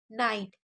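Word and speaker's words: night: नाइट, ना आइट, जी एच हमेशा silent रहता है, तो यहाँ पर भी साइलेंट रखना है, और जी एच से पहले अगर आई होता है तो आई को आई पढ़ते हैं, यानी नाई, और टी को टा पढ़ा है, नाइट।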